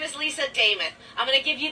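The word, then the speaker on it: Demuth: And as your next nominee as a Republican for governor, my name is Lisa Dameth. I'm going to give you the easiest way to understand that. It rhymes with Joe Namath. Dameth, Namath.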